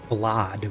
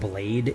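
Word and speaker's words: Blaidd: wanted bones it's actually blad with a B it's it looks like it should be pronounced blade it's b l a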